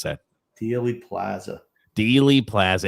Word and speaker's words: Dealey Plaza: How do you pronounce that? Dealey Plaza.